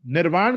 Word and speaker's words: निर्वाण: का शब्द नहीं है यह संस्कृत का शब्द निर्वाण एग्जैक्ट जो वर्ड है दैट इज निर्वाण उसको निर्वाणा कर दिया क्योंकि वो राणा नहीं बोल पाते इसलिए वहां पर हो गया निर्वाणा जो बेसिक शब्द है